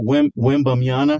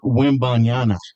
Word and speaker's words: Wembanyama: So Wembanyama, is that the right name? I'm not pronouncing it on.